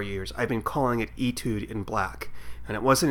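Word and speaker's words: étude: Well, we are going to talk about the 1972, I think it's 72, episode Etude in Black, which is spelled Etude, E-T-U-D-E, but it's actually a French word meaning a short musical piece, so it's pronounced etude.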